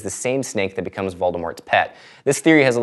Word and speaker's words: Voldemort: du misconception number nine the t is pronounced in Lord Voldemort I mean it's kind of up to you like for example I tend to say it but I'm going to talk about it anyway because pronunciation is fun during a 1999 book signing Rowling was asked how to pronounce the name she responded I say vmore but I'm the only one misconception number 10 Voldemort's